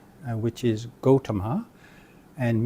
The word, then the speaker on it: Gautama: The correct pronunciation is Gautama, or in Sanskrit, Gautama.